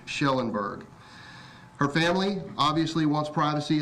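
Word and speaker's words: Kjellenberg: It's spelled KJ, but it is pronounced SH, Schellenberg.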